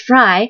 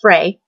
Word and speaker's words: Frey: Yes, her name is pronounced Fry, because apparently Mario and Chloe were calling her Cece Fry, and everyone was like, they're saying it wrong.